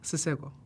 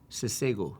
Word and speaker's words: Seo: mispronounce my name um what's the proper pronunciation seo seo yeah SEO yeah um and that